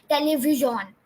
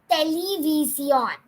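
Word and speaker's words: televisión: And you don't pronounce television in Spanish as television. No. But you pronounce it as television.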